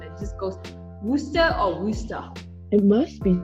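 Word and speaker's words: Worcester: playing the video again and again of the pronunciation it just goes wooster or wooster it must be some xma okay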